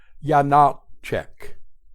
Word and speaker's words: Janáček: Step 1, place an accent on the middle syllable, Janáček. Step 2, place an accent as well on the first syllable, Janáček, and say it quickly.